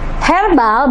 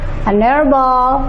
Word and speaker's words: herbal: Karena walaupun tulisan huruf di depannya adalah huruf mati atau konsonan, tapi pengucapannya adalah huruf hidup. Misalnya air. Ini ya, our. Air. Herbal bahasanya herbal.